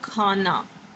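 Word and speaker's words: کھانا: Hai with this and we will pronounce it like kh, kh. For example, khana.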